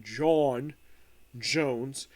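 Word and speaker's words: J'onn J'onzz: the name John Jones, even though it's pronounced John Jones, it's his alternate spelling.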